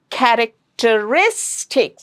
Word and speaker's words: characteristic: Characteristics. This is a very long word and it's ending in IC. So the syllable before the suffix will get the stress. So it is characteristic.